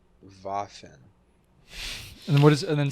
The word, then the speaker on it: Waffen: of my seed box it means weapon in german pronounced as vaffin and what is and